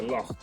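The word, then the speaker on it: lough: Comes from the word in island for a lake is a lock or but it's spelled L O U G H.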